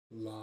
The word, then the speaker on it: LAM: Release the breath and go LAM, which is L-A-M. That's that mantra for the base chakra.